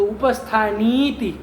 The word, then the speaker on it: उपस्थानीति: वहाँ उपस्थानी के बाद इति शब्द है तो सवर्ण दीर्घ हो जाएगा, तो उपस्थानीति ऐसे लिखा होगा ना, तो वैसे ही उच्चारण करिए।